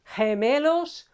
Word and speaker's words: gemelos: In those cases, G or G will become H, as in hello. Gemelos, gitano.